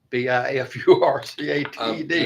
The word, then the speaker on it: bifurcated: don't know what that word is I can't pronounce it b i f u r c a t e d yes bifurcated it's what bifurcated means split split